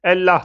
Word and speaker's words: Allah: değişiklik gösterebilir bu yüzden Allah kelimesi Arapçada Aslında ellah tır Evet Allah diye okunur daha çok Araplar bu şekilde söyler Ama tabii ki yöresel